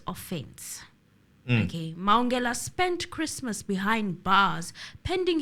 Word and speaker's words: Mahungela: We are here to deliberate on Bafana Mahungela's case. I've been calling him Mahungela quite a lot, but it seems like the There's an pronunciation H. is, yes, it's Mahungela.